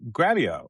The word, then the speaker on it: Grabyo: This your podcast here with Gareth Capen, the CEO of Gravio, which rhymes with video cuz that's what they do, which makes sense to me.